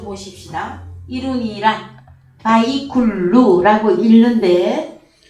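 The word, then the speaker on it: ויכלו: 이룬이라 바이쿨루라고 읽는데 자 끝나다예요.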